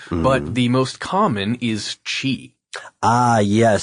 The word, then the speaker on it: qi: But the most common is chi. Ah, yes, spelled with a Q-I or C-H-I.